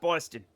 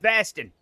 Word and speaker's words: Boston: It's not Boston. Boston is how other New Englanders say Boston. But if you're from Boston, it's pronounced Baston. Nobody knows why. Literally nobody knows why.